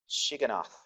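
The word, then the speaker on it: Shigionoth: Chapter 3, you see it says in verse 1, a prayer of Habakkuk to the prophet according to a hard word to pronounce, Shiganoth.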